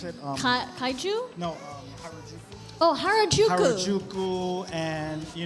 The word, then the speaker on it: Harajuku: Uh, how do you pronounce it? Um, Kaiju. No. Um, Harajuku.